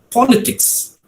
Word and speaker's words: politics: So the stress falls on the first syllable, politics. But when you say political, right, it is not political, but it is political.